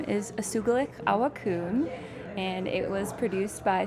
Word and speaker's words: Usugilix Awakun: Tell us a little bit about the film, and I want you to pronounce it for me. Yeah. The film's name is Usugilix, Awakun, and it was produced by Spruce Films, which